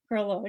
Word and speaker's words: Groleau: I'm so pleased to introduce everyone to perlow now did I pronounce that properly yeah you got it right